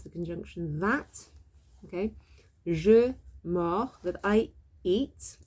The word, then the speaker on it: mords: C'est la dernière fois que, that's the conjunction that, okay, je mords, that I eat. So it's got an S at the end, it's got a D and an S actually, but actually it